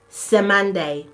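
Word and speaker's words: Cymande: called C y m a n d e Sande c y m a n d e it's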